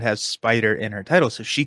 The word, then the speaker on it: SPDR: I wrote into the rules team at Fantasy Flight Games saying, this is intended, SPDR, I think it's meant to be pronounced Spider, which I think it genuinely is.